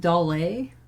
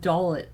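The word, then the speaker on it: Dollet: a rebellious upperclassman and questus squall's instructor it's pronounced daley i've been pronouncing it dalit my whole life ah okay squall's galbanian encounter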